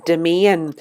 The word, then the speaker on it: Demesne: So they call this area a domain. So some of you may have noticed that word before. It's spelled Demesne, and it's used throughout